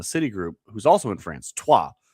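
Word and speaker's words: Troyes: who's also in France, Tua, which Troy, it's spelled, but Tua is how they say it because France, I don't know, whatever.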